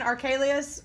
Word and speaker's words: Archelaus: Okay, so he found out that Herod's son, Archelaus, that's how you say it, who was just as bad or worse than Herod the Great, was in charge of Judea.